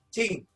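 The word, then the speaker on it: 精: ginjal itu adalah membuat cing tulisannya jing dibacanya cing hai artinya apa artinya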